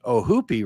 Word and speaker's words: Ohoopee: The brewery is named after a river, and it's spelled Ohoopee, which to me would look like Ohoopee River, but apparently the locals pronounce it like the double O in foot. So Ohoopee River oh, would be it.